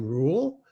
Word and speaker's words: Ruyle: My name is Rule, and as most of you know, it's spelled with a silent Y, so it rhymes with cool.